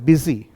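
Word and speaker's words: busy: और देखिए बी यू एस वाई, इस शब्द का उच्चारण होता है बिजी।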